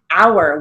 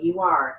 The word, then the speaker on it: hour: it across the board if it has a silent h we still use the h so let's look at